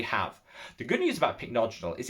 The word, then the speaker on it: pycnogenol: the channel where I used to call it pycnogenol before I actually realized you pronounced it pycnogenol?